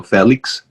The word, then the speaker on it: Felix: Hey everyone, I'm Felix. If you want, you can pronounce it with a more Spanish accent and say Felix.